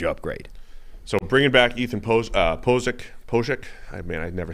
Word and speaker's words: Pocic: So bringing back Ethan Pocic.